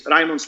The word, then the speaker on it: Raimonds: So first of all, my name is Raimonds. No one can pronounce it. Don't butcher my name. So Raimonds, Raymond, pretty similar.